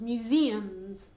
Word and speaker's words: museums: have many museums okay be careful with the pronunciation of museum sales museums very difficult ok it's like with an I sound mu mu Z and so chooses sounds museums say it again that's Mary that's Madrid have